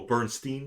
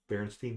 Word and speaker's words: Berenstain: stand it never was it's always stained oh Bernstein Bears yeah well it's spelled funny it's like Barons yeah Berenstain Bears yeah it was never the barren stain no no like people